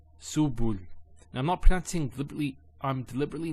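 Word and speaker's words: سُبُل: So to pronounce this has a S sound. So su, bu, and this is the lam, like the letter L. So subul, subul.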